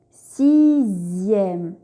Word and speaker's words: sixième: La lettre X peut également faire le son Z, comme dans les mots deuxième, sixième, 18.